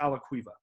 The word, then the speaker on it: Alaquiva: end so imei and the last name is a la cueva boom there you have it i think the